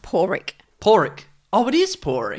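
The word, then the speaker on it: Pádraic: do some correction here oh really it's actually pronounced poric poric oh it is poric yes yes not Podrick it's it's pronounced poric pck rules where are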